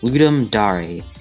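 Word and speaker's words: Ludum Dare: team Cherry submitted hungry night for the the ludum DAR game Jam 27 yes that's how it's pronounced as I've stated before this was the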